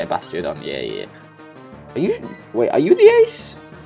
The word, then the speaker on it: Bastiodon: Bastiodon. Yeah, that's how you say it. Bastiodon.